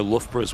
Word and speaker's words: Loughborough: Oh, Loughborough's one as well, yeah. Cholmondeley is pronounced Chumley.